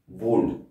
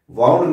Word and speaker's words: wound: वूंड, वाउंड नहीं कहते, इसकी स्पेलिंग होती है WOUND।